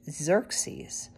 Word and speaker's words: Xerxes: had a son named Xerxes pronounced as if it began with a z this is actually the